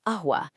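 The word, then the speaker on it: قهوة: But if you use the Hamza trick, you seamlessly transform it into ahwa, just completely dropping the Q and starting with a crisp little glottal stop.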